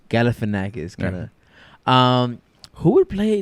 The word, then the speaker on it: Galifianakis: You should grab a random person and just kind of sack Filicanakis. Am I saying it right? Galifianakis, kind of.